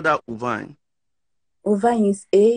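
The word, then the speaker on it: Auvergne: How do you spell that? Uvine.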